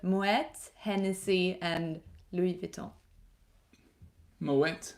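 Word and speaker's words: Moët: Moet, not Moet, as I always thought. Moet. Pronounce the T.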